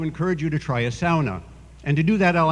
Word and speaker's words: sauna: the Stone Age and you'll notice I use the Finnish pronunciation SAA it's what I grew up with in